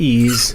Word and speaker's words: EES: EES, which is pronounced ease, is an acronym for Engineering Equation Solver.